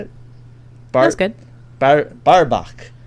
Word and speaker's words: Barbaque: Barbaque. Barbaque.